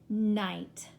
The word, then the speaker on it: night: in the first column you are not going to hear that gh so in that first word it is mm my night like bright night the second word is